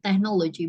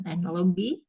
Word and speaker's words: technology: Oh pakai D ya jadi technology bacanya teeknology bukan teknologi teknologi tapi ini kan